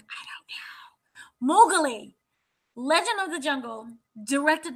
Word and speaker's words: Mowgli: Belongs to a Netflix movie, and it's oh, okay, I can't pronounce this, but it's Maui, which is The Legend of the Jungle, which is based Mowgli. Mowgli.